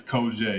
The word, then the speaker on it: Koger: No, actually, it's Koger. You actually said it wrong.